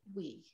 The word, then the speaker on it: Oui: And we really love, we decided that it's pronounced like the French word, oui.